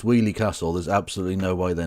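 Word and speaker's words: Weoley Castle: If they knew it was pronounced Wheelie Castle, there's absolutely no way they're not. No one outside the Midlands knows how that's pronounced. Wheelie Castle.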